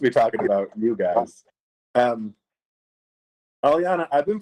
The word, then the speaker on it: Alianna: Alianna, I've been pronouncing your name Alianna.